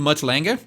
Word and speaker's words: Mutt Lange: Ele deu um polimento muito diferenciado do Mutt Lange, né? Assim que se pronuncia o nome desse produtor clássico da banda,